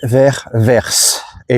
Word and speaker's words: Vers: On est donc dimanche aujourd'hui et je vais vers et oui verse comme le comme le le quoi comme la direction vert et ça se prononce verse.